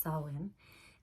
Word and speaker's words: Samhain: But today is actually Samhain, written Samhain, but it's pronounced Samhain.